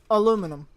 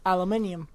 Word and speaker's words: aluminium: So if it was in America that it was found, then it should be pronounced aluminum. But if it was in the UK that it was found first, then it should be pronounced aluminium.